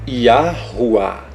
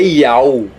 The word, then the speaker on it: Yahuwah: Ou seja, Yahuwah. Não é Iau. Como é que você vai dizer Iau? Cadê a outra pronúncia aqui do H? Não tem.